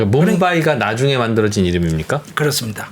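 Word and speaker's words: मुंबई: 그 뭄바이가 나중에 만들어진 이름입니까? 그렇습니다. 그럼 식민지 시대 때는 봄베이라고 봄베이. 불러요. 영국식이에요, 그게? 맞습니다. 아. 인도 말로는 뭄바이. 예, 그렇습니다.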